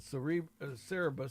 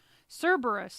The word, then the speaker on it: Cerberus: Then we found out that this company called Cerebus, or Cerebus, is that Cerebus? Cerebus. Cerebus. Cerberus is actually how you say it.